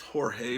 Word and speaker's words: Jorge: my friend George arbilize it's actually pronounced Jorge but he always went by George because people back in